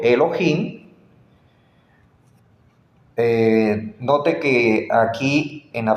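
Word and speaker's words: אלהים: amigos mire su escritura Elohim ahí está la pronunciación Elohim note que aquí en la franja azul claro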